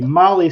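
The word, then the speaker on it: MAHLE: And for all of our podcast listeners, Molly is spelled M-A-H-L-E.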